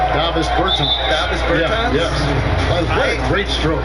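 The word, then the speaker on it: Dāvis Bertāns: Oh, well, now, at this point in my life, it's Davis Bertans. Is that how you say his name? Davis Bertans.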